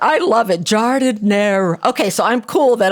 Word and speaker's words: giardiniera: I saw a video that you had about how to pronounce it correct. I love it. Giardiniera.